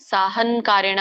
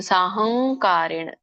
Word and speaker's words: ಸಾಹಂಕಾರೇಣ: ಕಗ ಅನ್ನುವಂತ ಅನುನಾಸಿಕ ಬರಬೇಕಲ್ಲಿ ಸಾಹಂಗ್ ಹಂಗ್ ನೋಡಿ ಹಂಗ್ ಸಾಹಂಕಾರೇಣ ಸಾಹನ್ಕಾರೇಣ ಅಂತ ಹೇಳಬೇಡಿ ನಾವು ಸರಳವಾಗಿ ಹೇಳಿಬಿಡ್ತೇವೆ ಅದು ಹೇಳಬಾರದು ಸಾಹಂಕಾರೇಣ ಹೇಳಬೇಕು ಸಹಂಕಾರೇಣ ವ ಪುನಃ ಕ್ರಿಯತೆ